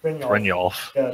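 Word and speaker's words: Brynjolf: Brian Jolf? Brynolf. Oh, that's a Y. I think it's like Brynolf. Yeah, Brynolf. Brynolf. Like a Y in that.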